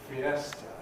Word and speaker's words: fiesta: When we borrow this word into English, how many syllables does it have? 3. Fiesta. We pronounce it fiesta.